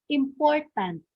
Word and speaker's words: important: Is it important or important? Okay, so I gave you already the answer. So the correct one is letter A, which is important. So sa syllable is in the stress is in the second syllable.